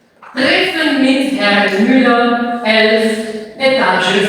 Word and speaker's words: Etage: Etage, obviamente, en español alemán, esto viene del francés, ¿ya? La cosa del alemán siempre pronunciamos la E final, ¿ya?